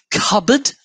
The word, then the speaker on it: cupboard: of it anyone ah cupboard there's a good one and it's got a nice silent p as well just to